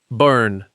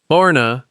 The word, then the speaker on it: Boerne: Number nine, Boerne. Boerne, pronounced Bernie, is the town Hill Country locals